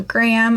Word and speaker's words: Graham: So Graham, I know in other parts of the world that's 2 syllables, but here it's 1.